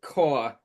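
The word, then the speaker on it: Kaur: here uh where so Rupy I think you pronounce it core.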